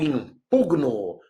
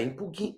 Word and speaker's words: impugno: Eu impugno, não é impugno, bem baixinho, não é impugno, hein?